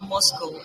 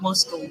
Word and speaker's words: MoSCoW: I'm sorry, it's pronounced Moscow. As you can see in the bracket here, beside MSCW. It's pronounced Moscow.